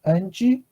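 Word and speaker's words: 黃: So in Taiwanese, if you want to say the color yellow, okay, as I input in the chat box, you pronounce ng with a rising tone, like a Okay, so repeat after me.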